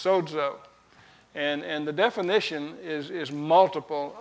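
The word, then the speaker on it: σῴζω: The Greek word for saved is sozo, and actually it's pronounced like that, but it's got a D in it, so it's sozo.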